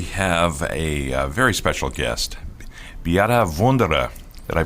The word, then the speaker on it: Beate Wunderer: And today we have a very special guest, Beate Wunderer. Did I pronounce that correctly, Beate?